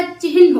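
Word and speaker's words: चिह्न: चिन्ह बोलते हैं ना, चिन्ह नहीं होता चिन्ह होता है। पहले हा होगा फिर ना होगा, आधा हा पूरा ना होता है।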